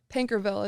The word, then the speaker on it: Paincourtville: But Pankerville is how it's pronounced, and it means short of bread for, I have no idea why.